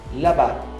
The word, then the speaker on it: là-bas: Mon père travaille là-bas. Là-bas, não pronuncia o S.